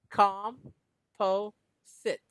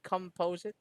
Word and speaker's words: composite: composite composite all right it's actually pronounced as calm it's like sitting down all right mr um mr lee sit down it's like that calm po sit composite composing that's that's